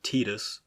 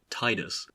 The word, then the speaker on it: Tidus: x protagonist has long been embattled between numerous pronunciations the most favored of which are either tidus or titus neither of which is particularly pleasing to the